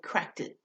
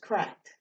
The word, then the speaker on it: cracked: syllables this is right it's a one syllable word because you don't say cracked it it's just cracked all right next one